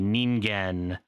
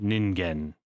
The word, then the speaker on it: Ningen: C8 uh the Selma the ningen the uh or ningen sorry there's a Japanese word I butchered uh the champ who